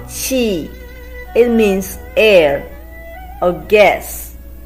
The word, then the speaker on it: 气: We have learned the pronunciation of qi combined with I, fourth tone. Qi.